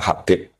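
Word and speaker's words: حبيب: Itu di harakatnya kitab itu ada yang nulis khubb. L yang benar. Oh, nggih. Yang benar itu bacanya Habib.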